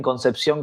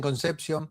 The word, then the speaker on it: Concepción: Queda bien y me causa gracia como lo pronuncian en inglés, ¿no? Algunos dicen conception, otros dicen conception, concepción, ¿viste?